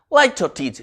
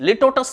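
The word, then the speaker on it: litotes: लाइटोटीज, लिटोटस नहीं है। कई बच्चे, कई स्टूडेंट्स का प्रोनाउंसिएशन लिटोटस करते हैं, लाइटोटीज।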